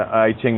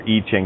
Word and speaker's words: I Ching: uh this was an I Ching that was or E Ching depends on how you want to pronounce it I I like the